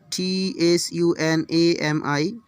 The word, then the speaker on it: tsunami: So the T will be silent.